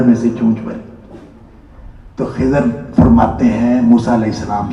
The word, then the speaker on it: خضر: موجود ہے کہ حضرت خضر نے موسیٰ علیہ السلام کو یہ کہا. یہ خضر جو اصل میں خضر لفظ ہے, خضر, لیکن خضر بھی تلفظ درست ہے, یہ غلط نہیں ہے.